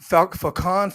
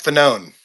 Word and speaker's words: Fanone: Well, is it Falcone? Falcone? How do you pronounce his last name again? Mike Fanone.